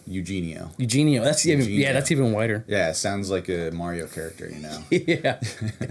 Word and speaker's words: Eugenio: Yeah, but, so as a first name, and like in Hispanic culture, that's how it's pronounced. It's like more like a io. Yeah. At the beginning, whereas like in like for me, it's the last name. I just say it as wide as possible.